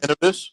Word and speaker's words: Innovis: Innovis, yes, sir.